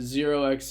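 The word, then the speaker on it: ZRX: Oxo or I mean I know people pronounce it zerx Z whatever you want to call it right but again this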